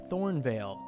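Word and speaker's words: Thornevale: Um, I wanted to put that E in there because it makes it sound a little bit more sophisticated.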